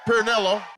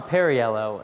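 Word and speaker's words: Perriello: Uh, Pernelloo. I'm Tom Perryello and I approve this message because how you pronounce instead we tend to work on the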